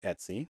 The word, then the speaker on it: etc: files we have an Etsy directory that's usually configuration files Etc but it's pronounced Etsy it's spelled Etc but it's pronounced Etsy we have a home